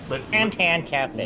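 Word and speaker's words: Fan Tan Cafe: Fantan Cafe. Literally how you say it. And that's why I'm like, that can't be how they say it. It is, unfortunately. Excuse me.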